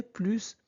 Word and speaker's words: plus: Première règle la plus importante. Quand plus signifie davantage, et bien on prononce le S.